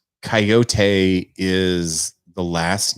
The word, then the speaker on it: Kaiyote: Yeah, so Hiatus Coyote, and Coyote is spelled Kaiyote.